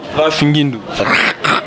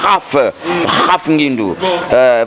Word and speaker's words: Raf Ngindu: Il faut prononcer bien. Raf Ngindu.